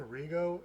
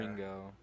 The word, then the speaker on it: Ringo: You're saying Rigo, and there's an N It's in there. Ringo. Ringo? Ringo. Ringo. Like say ring, Ring. go. Is there 2 G's? No, but you pronounce it like that.